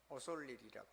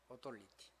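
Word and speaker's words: authority: 오솔리리라고 그러더라고요. 영어는 그렇게 읽던데 나는 그 영국식이 더 발음이 훨씬 더 좋아요. 오솔리티.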